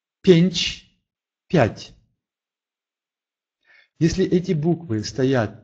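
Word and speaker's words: pięć: Или «рэнчны», «рэнчны», «ручной», «пенч», «пенч», «пять».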